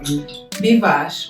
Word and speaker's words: Bvosh: Bvosh. Bvosh is my name on Instagram. You might have to spell that.